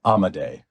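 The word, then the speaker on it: Amodei: I'm pronouncing it right how does he pronounce his his last name I believe it's amade Amad um who is a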